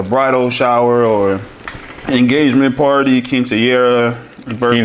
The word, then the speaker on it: quinceañera: wedding or a bridal shower or engagement party, quinceañera, birthday. Quinceañera.